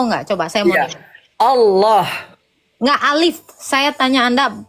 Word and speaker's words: Allah: Di Indonesia itu pelafalan ini harusnya tetap Allah.